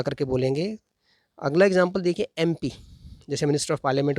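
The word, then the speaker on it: MP: तो एमपी में भले ही लेटर एम दिख रहा है, कॉन्सोनेंट है, लेकिन क्योंकि उच्चारण जो साउंड है वो वोवल का आ रहा है, इसीलिए पहले आपको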